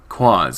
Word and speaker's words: Quas: Quas a noun both singular and plural referring to anything strange in congruous or peculiar. At its heart it is the unknown the mysterious. It rhymes with oz to a traveler.